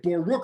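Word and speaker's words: Baruch: this two days before spell it out phonetically b a w r u c h a dash t a bar rook i tall you know do that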